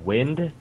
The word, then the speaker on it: Wind: Wind? Wind as in, like, wind blows in the air.